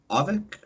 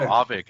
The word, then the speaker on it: Auvik: I guess, would you over and make sure I'm pronouncing this right? Is it Avic or Avic?